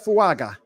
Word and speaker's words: Fuaga: I mean, my dude Freaky Peasy on Twitter, he sent me the pronunciation guy earlier. It's it's Talicia. Talicia Fuaga.